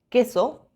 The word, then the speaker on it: queso: Siempre va acompañado de U, pero no la pronunciamos, es silenciosa. Las únicas combinaciones son que y qui. Queso, quiero.